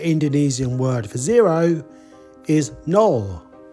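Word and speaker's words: nol: word for zero is null that sounds a bit like the English word nil zero null null null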